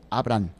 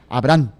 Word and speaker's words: Abraham: Cómo se escribe ahí Abraham no está con ha intermedia sino como si fuera abran de abrir la puerta nada más que con acento abran Abraham Sí en visión en